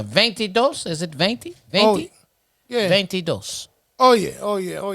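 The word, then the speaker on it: veintidós: say 22 baby yeah but that ain't how they say it though it is not it's called ventidos go with that right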